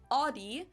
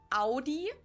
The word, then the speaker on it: Audi: Most Americans that I know pronounce it like I just said it, Audi. In German, we say Audi.